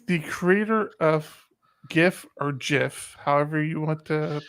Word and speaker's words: GIF: gift person anyways the creator of gif or jiff however you want to pronounce it he does call it he calls